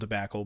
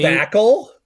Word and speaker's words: debacle: time I you know the whole Nick Wild tobacle but like the two that got me debacle.